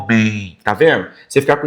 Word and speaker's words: homem: Homem. Homem, tá vendo? Homem. Então, na pronúncia, o som traz o i desse m, homem. Ó, o i no final.